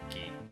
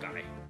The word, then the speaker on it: Guy: By the way, they spell it guy in this game, but the act I believe the actual pronunciation of ghee is well gee, not guy.